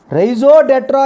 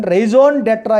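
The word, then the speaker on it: raison d'être: Raison d'etre is a British pronunciation. Raison d'etre is a American pronunciation.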